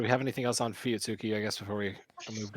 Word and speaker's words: Fuyutsuki: Fuyutsuki. I know how to pronounce it, too.